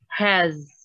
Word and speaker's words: has: Membacanya itu has, seperti ada z di situ, ya, has.